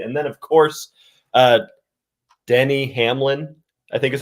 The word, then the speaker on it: Denny: uh shaking their head it's Denny Hamlin d n y you even told me that before the show and I still said it wrong so feeling good today